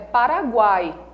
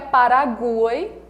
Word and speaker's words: Paraguai: ui esse estão fracos a pronúncia da palavra é Paraguai não é Paraguai e nem é Paraguai percebem e woe são fraquinhos eles são semivogais a semivogal é justamente